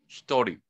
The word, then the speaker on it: 一人: Hitori.